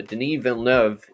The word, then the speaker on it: Denis Villeneuve: look up a youtube video for how to pronounce the director's name uh denis vellnev is known for directing other movies such as